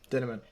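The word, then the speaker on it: Dinniman: Dinnerman. Oh, look at that. It rhymes with cinnamon.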